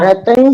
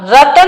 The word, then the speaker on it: रत्न: रतन शंकरा बालुका पंख धूम तमो महावितानम महतम प्रभा भूमियो धनाम्बु वाताकाशा प्रतिष्ठा सप्तोधोधा। सप्तो नहीं, सप्ताधोधा। सप्ताहादोधा, सप्ताह नहीं, सप्ताधोधा। सप्ताह दोधा, दोधा। हाँ रतन नहीं, रत्न शर्करा प्रथम जो शब्द है।